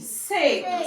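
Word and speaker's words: sake: We also have S-A-K-E. Sek. Say sek. Sek. The A is your long vowel, while the E is silent. Can you hear the sound of the he? It's not taking any sound.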